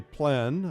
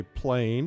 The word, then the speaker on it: plein: outdoors or open air the French say plan others say plain it doesn't matter how you say it it's a huge movement